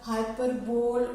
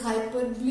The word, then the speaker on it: hyperbole: Now hyperbole, no, it is not pronounced as hyperbole. O again is silent. It is hyperbole.